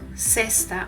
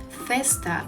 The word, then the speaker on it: cesta: But when the syllable is formed with E or I, it sounds more like an S. For example, cesta or cima. In most regions of Spain, people will pronounce it closer to the TH in English for words like think or thousand. So instead of saying cesta or cima, they will say festa or cima.